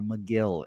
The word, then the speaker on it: Megill: here and not my close, good friend, Tyler Megill. Or McGill is actually pronounced here.